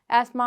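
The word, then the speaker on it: asthma: एस्मा, अब आप इस नाम को देख के सोचेंगे इसकी प्रोनाउंसिएशन, क्योंकि अक्सर लोग एस्थमा कहते हैं लेकिन इसकी असल प्रोनाउंसिएशन है एस्मा, ठीक है।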